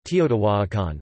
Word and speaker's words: Teotihuacan: Teotihuacan, in Spanish, Teotihuacan, Spanish pronunciation, Teotihuacan, listen, modern Nahuatl pronunciation, is an ancient Mesoamerican